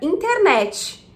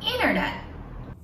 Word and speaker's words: internet: Bom, o primeiro T vem depois da letra N, ok? Então ele ficou silent. Mas você não achou que ela não pronunciou o último T? Internet. Internet. É isso mesmo. E é isso que chamamos de stop T. Ou, mais tecnicamente, glottal stop.